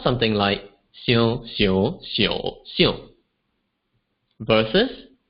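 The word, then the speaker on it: 二: I'll pronounce each number 2 times with a short pause between each number. And if you like, you can make use of this to practice the tones that we've just learned earlier.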